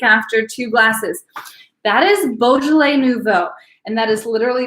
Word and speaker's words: Beaujolais: everyone to know this and to know to pronounce it Beaujolais so bougie people drink Beaujolais but it is pronounced Beaujolais also non bougie people drink Beaujolais and everyone